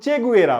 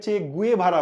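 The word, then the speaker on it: Che Guevara: Actually তার নাম চে গুয়েরা, বুঝছেন? কেন জানি আমরা বাঙালিরা একে চে গুয়েভারা বলি। আমি সব বইয়েও এটাই লেখা থাকে চে গুয়েভারা, কিন্তু আমি তাদের প্রোনাউন্সিয়েশন শুনেছি, তারা বলে চে গুয়েরা। চে গুয়েরা না বলে আমরা বলি চে গুয়েভারা, ঠিক আছে?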